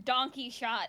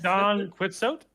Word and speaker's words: Don Quixote: I mean, I keep hearing donkey shot out of your mouth, so I don't know. Chat, help me. I don't know how to pronounce this. Don Quixote?